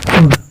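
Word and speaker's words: would: Will, वुड, shell, वुड। ये देखिए एक चीज़ यहाँ पे ध्यान दीजिए, ये शुल्ड नहीं है, ये सॉरी शुल्ड नहीं है, ये वुल्ड नहीं है, ये वुड है। एल साइलेंट होता है इसमें भी एल साइलेंट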